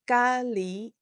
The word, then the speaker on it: 咖喱: Curry is 咖喱. 咖喱. Note that ga in 咖喱 is the same character as the ka in cafe, but it has different pronunciations in these two words.